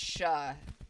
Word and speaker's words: shire: Shire in the UK is pronounced sha.